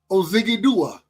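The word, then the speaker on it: Odighizuwa: Osa Ozigidua.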